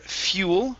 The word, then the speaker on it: fuel: go to the word fuel right here fuel fuel fuel okay with an l okay all right keep practicing the l you want your tongue to touch the top of your mouth ooh fuel fuel okay